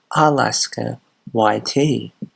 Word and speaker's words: Alaska YT: It's not Alaskite, or however the hell he pronounced it, it is Alaska YT.